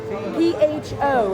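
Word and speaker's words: phở: Michelle we're making Vietnamese beef stew our fam p-h-o is how it's spelled okay so how do we do this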